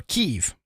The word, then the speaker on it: Kyiv: So Kiev is Russian and Kyiv is Ukrainian or something like that.